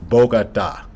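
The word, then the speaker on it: Bogotá: The way to say the name, is pronounced Bogota.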